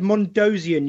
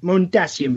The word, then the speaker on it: Mondasian: Could we also go back to the word Mondosian you used there? Mondasian, please. Come on. Mondasian.